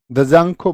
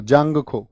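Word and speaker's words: Dzongkha: बोली जाती है बताओ दजांग खो बोलते हैं उसको जांगो द जांग खो दजांग जांग को स्पेलिंग में लिखा जाता है डी लेकिन ऐसे हिंदी में नहीं लिखा जाता है।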